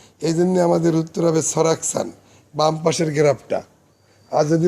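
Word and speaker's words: 설악산: তার উপরে 8.9 লেখা, এবং তার নিচে লেখা হলো সারাকসান। সল আক সান, ল যখন উপরে উঠে যাবে তখন উচ্চারণ হবে সারাকসান।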